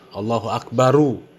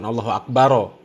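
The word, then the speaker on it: الله أكبر: Wong jelas harokat terakhir itu doma. Allahu Akbaru, ya, bukan Allahu Akbaro.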